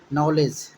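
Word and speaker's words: knowledge: तो साइलेंट होता है, N के पहले अगर P आता है तो साइलेंट होता है, G के पहले D आता है तो साइलेंट होता है। तो इसी से देखिए नॉलेज है, तो देखिए 9 तो पता चल गया आपको। देखिए LEDG, बोले ना जी के पहले डी आएगा तो साइलेंट होगा, तो नॉलेज।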